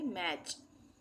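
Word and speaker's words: match: तो यहां पे टी का उच्चारण नहीं होगा। इसको हम मैच नहीं पढ़ेंगे। इसको हम पढ़ेंगे मैच।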